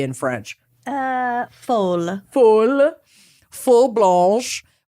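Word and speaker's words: folle: Fall F or FY blanch how would you pronounce f o l l e in French uh full full full Blan it's the feminine derivative of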